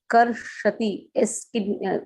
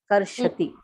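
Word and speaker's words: kṛṣati: Karshati. Down that dot is there. Karshati. Wherever dot is there, that has to be pronounced sh, not sa.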